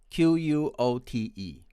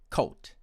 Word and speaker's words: quote: comes our final difference q-u-o-t-e my friends from india tend to pronounce it as cult just like c-o-a-t code it has no consonant of w and my american friends